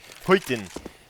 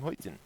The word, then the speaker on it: Skytten: It's like Huyten, who is written Skytten, but you have to pronounce him Huyten. Or Huyten. I think that's more Swedish, if you really focus on that.